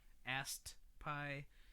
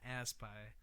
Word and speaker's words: Ast Pie: And then November 19th is Secret Pizza, Damn Wishes, How Low, Ast Pie, and Hannah. It's the worst pronunciation. Ast Pie. Ast. I had to put the T. This is not Ass Pie.